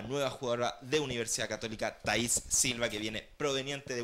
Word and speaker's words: Thaís: jugadora de Universidad Católica, Thaís Silva, con acento en la I, como lo estábamos hablando antes de entrar a la sala de conferencia.